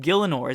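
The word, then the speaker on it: Gielinor: It's everything's crazy in the world and apparently in Gillianor or however you say it. Gillianor, is that how you say it?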